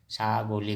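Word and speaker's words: ছাগলী: बकरी को हम असमिया में छागोली कहेंगे। बकरी को छागोली। क्या कहेंगे? छागोली। हिंदी में उच्चारण छागोली ब्रैकेट में।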